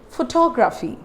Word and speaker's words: photography: So here I have written photography. Here I have written photography. You all know where I am stressing here? I am stressing on the second syllable, means T-O-G.